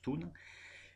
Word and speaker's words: Thun: Je prononçais Tain, mais ça se prononce Thun.